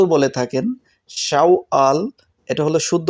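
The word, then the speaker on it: شوال: উচ্চারণ হবে শাওয়াল অনেকেই সাওয়াল বলে থাকেন শাওয়াল এটা হলো শুদ্ধ উচ্চারণ অনেকেই সাওয়াল বলে থাকেন অক্টোবর আরবিতে উচ্চারণ হবে শাওয়াল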